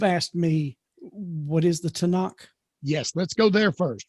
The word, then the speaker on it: Tanakh: well, it's pronounced in English, in Hebrew, as we say in Hebrew, Tanakh.